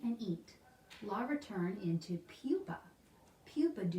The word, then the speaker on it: pupa: I almost said pupae because that's kind of looks like how it's spelled. They're called pupa.